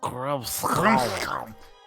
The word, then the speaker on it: Grimskall: pronounced Grimskall.